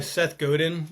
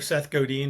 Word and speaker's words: Seth Godin: Yeah, there's a quote by Seth Godin or Seth Godin, depending on how you say his name, where